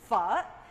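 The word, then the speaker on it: phở: traditional dishes of Vietnam, it's pho. And I know that there's all different kinds of pronunciations with that. And you just have to roll it with it. Just pho. You know, it comes from the French.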